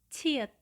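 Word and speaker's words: 치읓: Seperti konsonan ke-10, nama hurufnya adalah ciet, ciet. Dan pelafalannya mirip dengan huruf C yang kemudian kita tambahkan dengan huruf H. Dan cara membunyikannya menambahkan udara yang keluar dari mulut.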